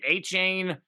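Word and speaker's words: Achane: Well, Mostert, I always butcher this guy's name, A-Chain. Hopefully I said that right. I've heard his A-Chan. A-Chan. I've heard it pronounced A-Chain, At-Chan.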